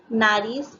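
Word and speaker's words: nariz: Naris means nose. See, this is also another example. You see a Z, it's pronounced as an S. So, naris.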